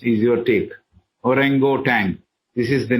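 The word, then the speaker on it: orangutan: u t a NG G so how you pronounce is your take orango Tang this is the name of the ape hbb says the African Apes like orango tank which are intelligent little less than Savage man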